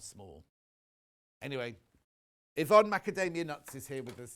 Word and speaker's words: McAtamney: McAtamney. McAtamney.